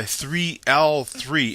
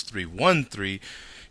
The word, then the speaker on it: 3l3: sent to me by 3L3. In my beer mail, I had got his name wrong. I thought it was 313. Uses a lowercase L, looks like a 1.